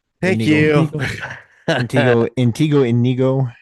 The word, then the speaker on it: Inigo: Antigo. thank Inigo. you. Inigo. Inigo. Inigo Montoya.